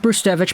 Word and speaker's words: Brzustewicz: pick 75th overall Hunter bristevich and yeah it's spelled weird but we're gonna go with brustevich because that's how all the OHL commentators go out there and say it this is a really